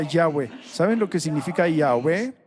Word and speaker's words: Yahweh: nombre del Señor en hebreo es yhvh se pronuncia Yahweh saben lo que significa yahv yahve significa el